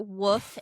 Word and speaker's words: wolf: the wolf in the Nordic? What did you just say? The wolf? The wolf. The You wolf. said- Do I have to pronounce the L? I thought it was silent.